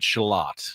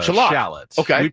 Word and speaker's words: shallot: He pronounces it shelot, not a shallot. In this country, we say shallot shallot, but he says shalot.